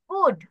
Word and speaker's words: could: কুড উই go home now, আমরা এখন বাসায় যেতে পারি। তাহলে এই যে Ma'am, cloud. ক্লাউড, Cold. COULD. কুড, কুড pronunciation কুড, COULD, এটার অর্থ পারি।